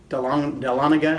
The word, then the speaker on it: Dahlonega: at the 4-H club in Waseega, outside of Dahlonega or Dahlonega, however you want to say it. I heard 4 different pronunciations of that little town, and all of them were for around there.